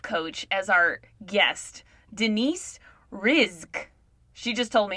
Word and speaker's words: Rizk: She said it's like risk with a Z. Rizk.